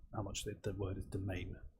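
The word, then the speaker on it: demesne: much the word is domain, which is spelled stupidly. D-E-E, I can never spell it myself, D-E-M-E-S-N-E, domain, yeah, makes sense.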